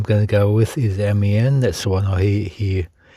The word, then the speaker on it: Amiens: But the one I'm going to go with is Amiens. That's the one I hear it pronounced most of all.